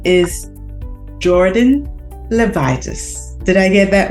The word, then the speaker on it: Jordyn Levitas: our guests for today and her name is Jordan levitis did I get that right yes you did um okay it's so important to pronounce people's names properly so I'm glad I